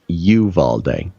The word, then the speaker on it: Uvalde: in Texas it's pronounced Uvalde you move all day okay yeah it's apparently